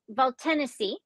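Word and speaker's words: Valtènesi: we pour this 2022 Valtanesi del Garda Chirietto. Okay. Oh, this is going to be fun. Did I say it right? It's Valtanesi, and it's Chirietto. So I said it so wrong.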